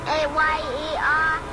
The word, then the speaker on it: Mayer: It's M-A-Y-E-R. No. Fuck no. It is not A. You know what M-A-Y-E-R Oscar is? Mayer?